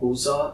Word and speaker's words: Busza: She was born in a small town called Buza. It's spelled Busza.